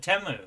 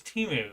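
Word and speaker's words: Temu: Ohio city teu and I did not know how to pronounce ounc it until I saw they had a Super Bowl at and they said teu and I always thought it was timu and it's not.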